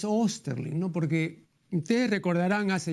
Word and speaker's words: Osterling: Felipe osterling eh yo al pronunciar el apellido me acomodo al uso imperante aquí en el Perú no pero eh En realidad es osterling no porque ustedes recordarán